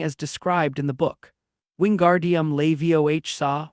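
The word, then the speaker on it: Wingardium Leviosa: Wingardium levioh saw with the gar being long and pronounced.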